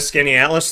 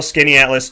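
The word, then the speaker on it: Skaneateles: been a country fan yeah is that a skinny atlas thing or no oh i'd say probably uh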